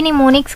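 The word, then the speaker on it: mnemonics: कहते हैं ठीक है प्रोनाउंस भी निमोनिक्स करते हैं एम साइलेंट होता है उसके बाद है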